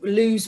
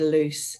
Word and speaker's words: Loos: the battle of loose so it's spelled l double os i was you know lose we used to call it for ages but it is supposed to be said loose and um say this